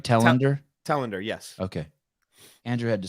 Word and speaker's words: Telander: Zach, am I pronouncing your last name right? Tender. Talender.